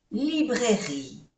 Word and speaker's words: librairie: Restaurant, A-U-O-A-N-N, restaurant, est situé entre, N-N, entre la pharmacie, no se pronuncia la E, et la librairie. Tampoco se pronuncia la E.